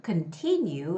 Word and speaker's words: continue: And the word continue, continue has the second syllable stress, continue.